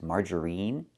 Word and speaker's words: margarine: The word is not pronounced margarine. It's not margarine. We don't use the long e sound like green beans. Margarine, we pronounce it margarine. We use the short i sound like this. Is in. I margarine. It's more open.